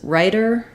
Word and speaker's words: writer: doing correctly um so in the words writer and Rider we basically have the same pronunciation for the T of ryer and the D of ryer and that means um that we're using what's called a flap sound for both of these for